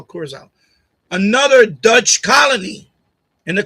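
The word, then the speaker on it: Curaçao: How you pronounce it? Curacao, Curacao.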